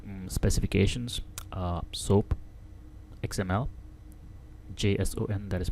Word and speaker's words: JSON: the video things like specifications uh soap XML JS o n that is pronounced as Json and rest look them up